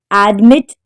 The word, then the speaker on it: admitted: Admitted. The stress is on the second syllable.